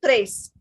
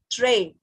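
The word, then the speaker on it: très: But we are pronouncing it tray. We are pronouncing it tray because in French, when S, T or D, they're coming at the last, we don't pronounce them.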